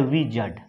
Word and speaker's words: wizard: तो वो होता है विजड, WIZARD, विजड, इस पे आर जो यहाँ पे साइलेंट हो जाता है, विजार्ड मत पढ़ देना इसको, विजड, विजड मीन्स क्या होता है, ओझा, जादूगर।